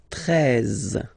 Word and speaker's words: treize: Then now if you combine this E and E, you get the sound E, really open. Treize, treize.